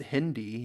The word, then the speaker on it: Hindi: as an absolute win it's pronounced Hindi Hindu refers to followers of Hinduism while Hindi is a language oh he called did